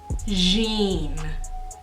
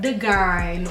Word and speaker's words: Dejene: That's pronounced deene, not the gine or dean or deene. There's no duh.